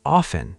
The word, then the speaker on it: often: But in British English, a lot of people say often. They drop the T.